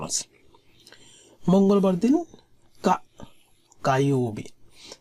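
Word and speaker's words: 火曜日: আর যখন বারের ক্ষেত্রে ব্যবহৃত হবে, যেমন মঙ্গলবার, তখন উচ্চারণটা হবে কায়োবি।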